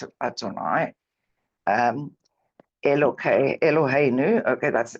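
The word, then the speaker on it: אֲדֹנָי: to say Adonai even though it doesn't say Adonai um it's udav God's name but we pronounce it Adonai um El eloh okay that's eloh okay again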